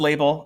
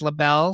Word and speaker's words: Label: and i'm going with label for two reasons number one i like the idea that maybe her name is pronounced labelle so i'm giving like